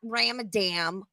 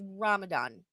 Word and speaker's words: Ramadan: It's not Ramadan pasta. Like, I know you've got a weird accent, but it's Ramadan.